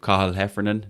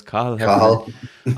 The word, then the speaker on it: Cathal Heffernan: We have Cathal Heffernan. That's how you pronounce it, folks. Cathal Heffernan on the books.